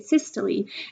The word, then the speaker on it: systole: of those new words it's spelled like "sys-toll" but you say it "sys-tol-lee" and that is synonymous with contraction.